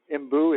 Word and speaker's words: mbu: They're the giant puffer, the imbu. It's MBU is spelled.